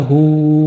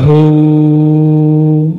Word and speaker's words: Hu: imam kita berdoa ya Hu ya Hu Coba baca sama-sama ya Hu ya Hu ya Hu bukan hu hu ada merindingnya enggak tadi Kalau bacanya dari